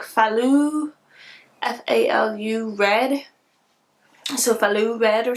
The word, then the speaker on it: Falu: millimeter naturally soft sock in how do you pronounce it it's like falu f-a-l-u red sophalu red or something and so